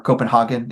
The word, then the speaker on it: København: a person from Denmark, from Copenhagen, or København, if I think is the more authentic pronunciation, but either way.